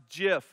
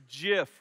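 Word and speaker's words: GIF: the acronym says that it is indeed pronounced jif like the peanut butter it's solved now it's jif with like a j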